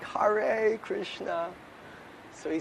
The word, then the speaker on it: Hare: So he said, don't say Hare. He said, pronounce it Hare, like with a D. He said, you may be criticized for imitating Bengalis. Hare Krishna. He said, but it will sound better, more authentic.